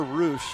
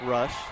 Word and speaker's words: Rush: Was calling her Roosh until this past weekend. Finally found out from her that her last name is pronounced Rush.